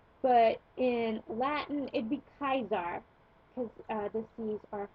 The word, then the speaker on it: Caesar: to um know that the C is pronounced hard always for instance we say Caesar's house but in Latin it'd be kaizar because uh the seas